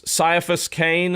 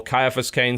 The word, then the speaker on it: Caiaphas Cain: That Caiaphas Cain, or Caiaphas Cain, some people prefer to pronounce it, is a kind of comedy.